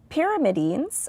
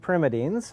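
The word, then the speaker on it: pyrimidines: He wants to know did you find and forgive me as I pronounce this uh pyramidines or pyreines or other basic bu building blocks of life. Yeah. So I think it's purines and primitines.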